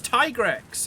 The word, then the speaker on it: Tigrex: It's Tigrex. It's a Tiger Rex.